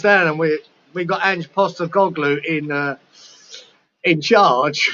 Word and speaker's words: Postecoglou: Postecoglou. Postecoglou.